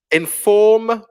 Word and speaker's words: inform: Inform. Yeah, in British pronunciation, the R's disappear after vowels. So inform.